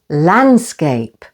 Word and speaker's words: landscape: And landscape. And the stress is once again on the first syllable. Landscape. E can be silent at the end of a word, like in the words love.